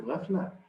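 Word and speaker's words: غفلة: And ghafla in Urdu or Farsi or in those languages, what we call ghaflat. Ghaflat. But in Arabic, the ta is not pronounced, so it's ghafla.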